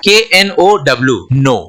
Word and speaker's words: know: में क्या हो गया KNOW नो, राइट। तो इसमें दो लेटर यहाँ पे साइलेंट आ गया, एक K है और दूसरा W है।